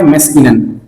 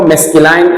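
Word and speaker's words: masculine: अक्सर लोग इनको मैस्कुलाइन, फेमिनाइन कहते हैं, लेकिन इसका एक करेक्ट प्रोनाउंसिएशन नहीं है। Correct pronunciation is मैस्कुलिन and feminine.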